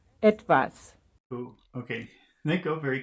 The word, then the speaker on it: etwas: Etwas. Etwas. I guess that's the first syllable, right?